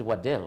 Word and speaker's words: Waddell: No, he's Waddell. Waddell is an English name. Waddell. His name is Keith Waddell Mortimer. Waddell spelled with a W.